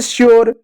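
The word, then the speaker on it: sure: लेकिन जब consonant are हो, कॉन्सोनेंट अगर आर हो, तो यू को यू ना पढ़ते ही यो पढ़ेंगे, जैसे श्योर, क्योर, मेच्योर, ठीक है प्यारे बच्चों।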